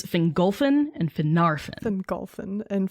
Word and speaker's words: Fingolfin: the emphasis right because the emphasis goes on the second to last syllables so it's engulfing not single thing it's fingolfin and phenartha then golfin